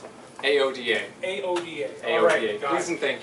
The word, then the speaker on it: AODA: this oh gosh well technically it is AODA however we were speaking a little bit earlier and I said if you pronounce it iota Oh duh whatever might